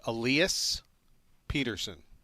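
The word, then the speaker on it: Elias Pettersson: name for you and they say it Alias Peterson right that's how the NHL media say Alias first name Peterson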